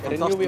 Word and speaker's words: Renewi: Het is een drie lettergreep. Ja. Ziet ze? Renewi? Renewi. Renewi, oké. Okay, dat, al... nee, dat is al je punt. Dat is al je punt. Recycling is ja. De R-E. Ja. New.